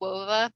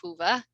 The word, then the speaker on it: Whova: It looks like Wova, but we pronounce it Whova, W-H-O-V-A.